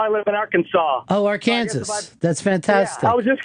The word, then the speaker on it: Arkansas: you live now I live in Arkansas Oh Arkansas that's fantastic I was just gonna say ours they pronounced it are care or I should pronounce